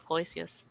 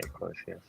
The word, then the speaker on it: Cloisius: I always pronounce it as Cloisius. Yeah. I always say Cloisius.